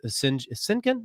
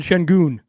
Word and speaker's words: Şengün: He did so with Sinkin. I can never pronounce his name. Alperen Şengün.